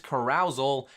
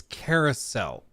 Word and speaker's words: carousel: pause the game carousal correct me if I'm wrong I think it's Carousel I've I've never heard it pronounced carousal carousal sounds like when you're at a farm and you get aroused in a Corral um I and this